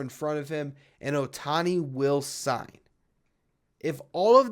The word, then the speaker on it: Ohtani: Yes, this is Shohei Ohtani a week. Ohtani, I added some syllables in there. This is Shohei Ohtani week on Locked On